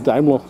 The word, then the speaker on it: Daimler: But I'm saying Daimler, it's pronounced like this in German.